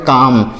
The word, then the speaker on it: calm: आगे बढ़ते हैं, अगला वर्ड देखिएगा CALM, यहाँ पर भी यल का प्रोनाउंसिएशन नहीं किया जाएगा, उच्चारण नहीं किया जाएगा, इसे पढ़ा जाएगा CALM को पढ़ा जाएगा काम, CALM काम, इसे कालम नहीं काम पढ़ना है।